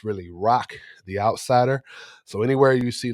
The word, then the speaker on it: Roq the Outsider: I just want to apologize for mispronouncing uh Rooric. It's really Rock the Outsider. So, anywhere you see like Roy the Outsider, that's me.